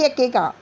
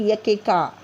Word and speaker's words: Iacocca: ली यकेका, देखिए IACOCCA को कैसे बोल रहे हैं? यकेका। क्या पढ़ते इसको? यकेका।